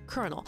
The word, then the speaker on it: colonel: pisses me off because why is it spelled like that if it's pronounced colel also welcome Cory you